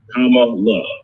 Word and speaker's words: Kamala: make sure you know kamala uh we always want to say her name right so senator kamala harris right i always tell them come on look right that's good think about it there